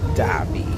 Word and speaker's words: Dhabi: Another stop in Abu Dhabi, which is spelled D-H, not D-A-B-I, Dhabi.